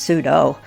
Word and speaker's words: sudo: One way to become the root user is by using the command sudo often pronounced pseudo after which you will be asked to provide the password to your device.